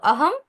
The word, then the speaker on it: অহং: ব্রহ্মাস্মি ব্যাপারটা কিরকম হ্যাঁ লেখার সময় হচ্ছে আমরা লিখবো অনুস্বার আহম ব্রহ্মাস্মি কারণ ব হচ্ছে কি একটা ব্যঞ্জন বর্ণ তাই হচ্ছে আমরা এখানে অনুস্বার লিখবো কিন্তু উচ্চারণের সময় কি করব ম হসন্ত উচ্চারণ করব আহম ব্রহ্মাস্মি আচ্ছা উচ্চারণের সময় আমরা